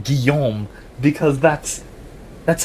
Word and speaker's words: Guillaume: deliberately and carefully pronouncing Guillaume because that's that's how that's how that's a French name and that's how it's pronounced.